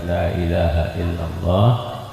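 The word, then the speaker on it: لا إله إلا الله: La ilaha illallah, la ilaha illallah. Itu la pertama itu bacanya 6 harokat, 6 gerakan. La ilaha, la yang kedua dibacanya cuma 2 harokat, kemudian maktobi'i ya.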